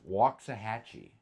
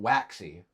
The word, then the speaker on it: Waxahachie: By the but, like, by the way, guys, it's Waxahachie, not Waxy.